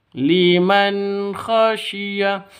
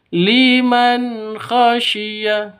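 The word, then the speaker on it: لِمَنْ خَشِيَ: liman khasiah itu salah atau di sentak lim khasiah itu juga salah yang betul harus jelas liman khasya jadi nun matinya jelas khnya juga jelas dza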